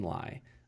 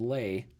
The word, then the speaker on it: Lai: of Brandoville CEO, Ken Lai. I mispronounced it and said Lay, but we have a little anecdote as to why that is.